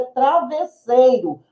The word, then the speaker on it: travesseiro: algo mas a linguagem culta O correto é travesseiro assim como vassoura eu não posso falar normalmente